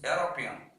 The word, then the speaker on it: European: thing john is a not european we should pronounce european yo yo why yo european song john is